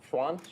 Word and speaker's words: Xuan: that right good enough can you say it for mewan Schwan is that better okay sorry um so